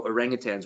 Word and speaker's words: orangutan: off the bat um people often hear the word orangutang and they put a g on the end that's totally fine if